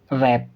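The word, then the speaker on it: wrap: देखते हैं, आर से पहले W, तो फिर W साइलेंट होगा।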